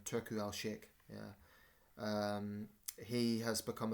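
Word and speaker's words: Turki Alalshikh: U Turku Alshik.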